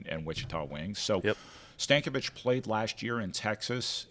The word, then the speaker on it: Stankovic: David Stankovic is how he would say it.